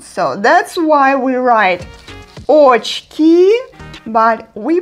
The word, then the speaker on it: очки: In Russian, they are called очки. Очки. It's a short word, it's not that difficult for pronunciation. Just don't forget that unstressed O represents A sound. So that's why we write очки, but we pronounce it like очки.